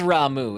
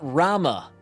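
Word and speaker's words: Ramuh: future Raiden I'm right it is ramu it's not Rama so you got you you specifically you made fun of me they say it as ramu in this game so suck it hi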